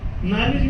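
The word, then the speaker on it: knowledge: नॉलेज में K silent रहेगा, psychology में P साइलेंट रहेगा, ये काहे भाई?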